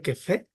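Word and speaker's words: Scheffé: Prácticamente las que más se usan es la de, que se pronuncia que fe, y la de Tukey, ¿no?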